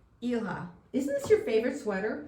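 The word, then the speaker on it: Ilah: And I said to my phone, "How do you pronounce I L A H?" So it took me to YouTube and it's Ela.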